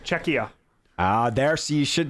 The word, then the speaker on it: Czechia: right no no what you keep adding an N there's no n it's just czechia ah there so you